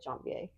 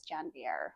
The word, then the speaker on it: Janvier: Because I've always said Jonvier. I believe Jonvier is the way you say the last name, but the way that I noticed everyone was pronouncing the place was Janvier with a hard R.